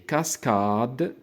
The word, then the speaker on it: cascades: دونك او اس ما كنطقوهاش في نهاية الكلمة إذا كانت الكلمة كتعدى 3 ديال الحروف. إذا كانت الكلمة فيها أكثر من 3 ديال الحروف او اس ما كنطقوهاش. داكوغ. دونك في حال هذا المقطع هذا، دونك هنا عندي 3 ديال الحروف، إذا غنطقوا هاد او اس اي. داكوغ. لي. ولكن إذا كانت الكلمة فيها أكثر من 3 ديال الحروف او اس ما كنطقوهاش في الآخر ديال الكلمة. داكوغ.